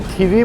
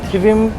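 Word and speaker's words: Thivim: गोवन या मराठी में थीवी बोलते हैं। हिंदी और इंग्लिश में थिविम प्रोनाउंस किया जाता है।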